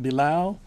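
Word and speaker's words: Bilal: my name is Bal spelled last name b i l a l pronounced below and I am the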